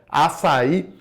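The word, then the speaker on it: Assaí: O principal concorrente do açaí, igual o açaí suco e não açaí, tá, pessoal? Então muita gente fala sobre isso, então a pronúncia correta é açaí, tá?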